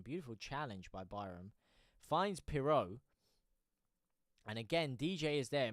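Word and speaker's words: Piroe: Andy Rowe, JT is pronounced Peru after the country. Peru. After the country. Piro. No, you mean Piro. Piro. Joël Peru. Joël Piro. Oh boy, Piro. Seems DJ read my previous comment.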